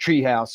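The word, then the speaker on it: TRE House: It's TRE, but it's pronounced Treehouse if you want to look it up online.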